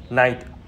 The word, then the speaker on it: night: Chữ nay hiệp sĩ và chữ nay buổi tối thì chúng ta đọc như nhau, phát âm y chang như nhau, night và night.